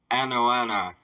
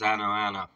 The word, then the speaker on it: Anoana: This is another song from Heilung Anoana, is what this is. I believe that's how that's pronounced, is Anoana.